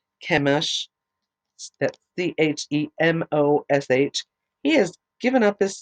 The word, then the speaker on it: Chemosh: People, O Chemosh, that's Chemosh.